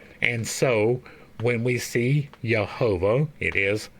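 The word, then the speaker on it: Jehovah: so when we see yahovah it is yahovah when we see yosua it is yosua so all of the J's are pronounced with a Y now the I and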